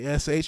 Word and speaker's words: Heche: I think her name is spelled Heche. You got an Heash. Try both ways. Try anyway. It's Anne Heche.